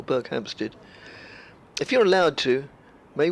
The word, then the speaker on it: Berkhamsted: No, I think the emphasis is on the second syllable, Berkhamsted.